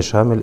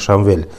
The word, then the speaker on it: Шамиль: он там находит, что имя Шамиль это является галат, то есть ошибкой, бальхуа Шамвиль, то есть это имя произносится как Шамвиль.